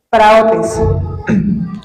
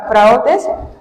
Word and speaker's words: praotes: Esto se traduce de la palabra griega praotes, con acento en la O. Se traduce de la palabra griega praotes, P-R-A-O, tiene acento, T-E-S, praotes o praos.